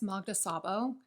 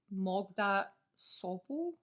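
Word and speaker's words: Magda Szabó: i read abigail by i have been pronouncing this magda sabo but a hungarian speaker recently told me it's actually closer to mogda sopo hungarians please feel free to confirm or deny in the comments but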